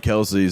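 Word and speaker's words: Kelce: like because didn't travis kelsey say something too where he's like my name is kels but everyone said kelsey and i just rolled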